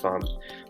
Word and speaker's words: Pham: at gustavus so the family or family it's pronounced farm but this is my family this is my